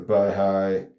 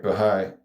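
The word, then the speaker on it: Baháʼí: The Bahigh, I want to see how I how to pronounce it so I don't sound so stupid. Bahai. Bahai. All right. Bahai. I was saying bahigh.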